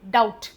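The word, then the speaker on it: doubt: डाउट बी का कोई role नहीं है। इसको क्या बोलते हैं? डाउट।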